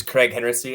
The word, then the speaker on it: Kreg Henritzy: people who you are hi my name is Craig hency as Jack so perfectly pronounced um currently I am an account manager